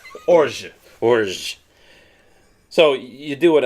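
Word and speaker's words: orgeat: It's a very French term, so you bite the G and you just don't pronounce the rest of the word. Orge.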